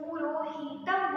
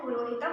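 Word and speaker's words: पुरोहितम्: आप देख सकते हैं ये है पुरोहितम यहां पे देखिए ये ह्रस्व है ह्रस्व आकार है अर्थात ये छोटी उ है ह्रस्व ऊ और ये छोटी ई है लेकिन अगर हम इसे बोलने के क्रम में अगर हम पुरोहितम बोलेंगे तो ये गलत हो जाएगा इसका जो उच्चारण होगा वो पुरोहितम होगा ना कि पुरोहितम इसलिए हमें अक्षर इसके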